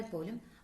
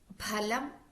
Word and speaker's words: ഫലം: കാരണം ഉച്ചാരണത്തിലെ ചെറിയ മാറ്റങ്ങൾ പോലും ആ വാക്കിന്റെ അർത്ഥത്തെ ഗണ്യമായി മാറ്റിയേക്കാം ഉദാഹരണത്തിന് ഫലം എന്ന വാക്ക് നോക്കാം ഫലം എന്നാൽ പഴം എന്നാണ് അർത്ഥം എന്നാൽ ഫലം എന്നുള്ള വാക്ക് പലം എന്നഉച്ചരിച്ചാൽ മാംസം എന്നാകും അർത്ഥം വേറൊരു വാക്ക് നോക്കാം അംശഹ